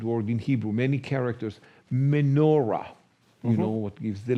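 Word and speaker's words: מנורה: So we put it as M-O, little bullet to separate the syllable, N-O, M-E, sorry, M-E-N-O, and then a little bullet to separate the syllable, and R-A. So everybody can read me-no-ra.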